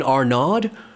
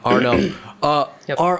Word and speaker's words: Arnab: me, do you mean Arnaud? No, Arnab. Arnav? No. So it's with a B.